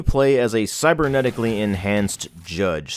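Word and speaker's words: Jydge: we have the game judge which is spelled j-y-d-g-e and all of the Y's in the game are pronounced as use I don't know why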